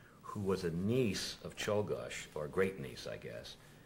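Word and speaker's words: Czolgosz: a lady um who was a niece of cholgosh or great niece i guess and unfortunately told me that the family pronounced the name solgash and we've gone through this whole show pronunciation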